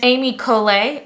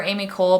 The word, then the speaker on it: Ami Colé: So this is the brand Amy Colé. I do believe that's how you say it, or Amy Cole, but I do think it's Colé because there's a little inflection over the E.